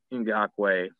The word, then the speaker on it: Ngakoue: Number 2, Yannick Ngakoue. I was saying his name wrong before.